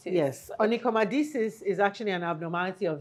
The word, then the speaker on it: onychomadesis: to cure in because francisa doesn't want to pronounce the word what are we talking about today it's called onoma deis okay onoma deis yes onoma deis is actually an abnormality of the nails and